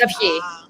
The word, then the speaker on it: Avgi: It's Avgi. But it's a hard name. It's Avgi. Avgi. Okay. It's like my sound. It's a little deceptive with how it's spelled.